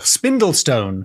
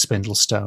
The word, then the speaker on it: Spindle Stone: know what that is it could be spindl Stone but I think it's spindle Stone spindle Stone it is a thin Stone so yes you're way ahead of the game like a spindle you now James are